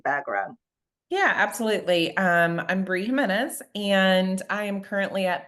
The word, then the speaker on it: Jimenez: Bree Jimenez. Is my pronunciation correct? How do you Close. pronounce? Jimenez with an H sound.